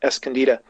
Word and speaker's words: Escondida: There's one in Chile called Escondida, the correct pronunciation, Escondida, in Chile.